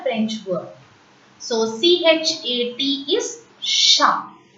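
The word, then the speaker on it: chat: So, C-H is ish, A-R, T remains silent as I have already told the rule. The last consonant will remain silent in a French word. So, C-H-A-T is sha.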